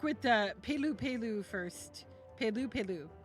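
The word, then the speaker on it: Pelupelu: Pu Peloo is how it's pronounced, I think.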